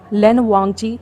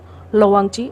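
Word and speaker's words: Lan Wangji: तो रीज़न है क्योंकि जो चाइनीज प्रोनाउंसिएशन है उसमें जंगचा, लोवांगची और लंजा है, ना कि जियांगचेंग, लेनवांगची या लेनजेन है।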